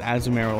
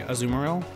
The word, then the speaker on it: Azumarill: Not technically, I think it's Azumarill officially. But I've also heard a lot of people say Azumarill, and I don't know that that's necessarily wrong. I think it's all just how you prefer to pronounce it. I think it's all fair game.